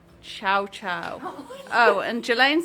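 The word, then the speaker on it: Cio-Cio: Karen says chow chow. I don't know pronounce it.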